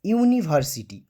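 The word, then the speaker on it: university: যেখানে দেখবে যে ইউ, যে সমস্ত ভাওয়েলের উচ্চারণে আমাদের ঠোঁটটা গোল হয়, ইউ, এর আগে আগে ওয়াই উচ্চারণ হচ্ছে, ঠিক আছে?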